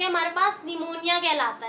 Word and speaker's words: pneumonia: उसके बाद हमारे पास जो डिसऑर्डर है दैट इज निमोनिया, इसमें पी साइलेंट होता है स्टूडेंट।